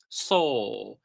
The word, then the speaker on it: saw: It's not saw, it's not saw, it's pronounced saw. It's like number four, right? Number four, it's pronounced four, but without the R.